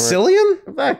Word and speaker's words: Cillian: Is that how you spell it? Paul Giamatti for The Holdovers is Paul Hunnam. Yep. Cillian Murphy, Oppenheimer. Cillian? Killian, whatever.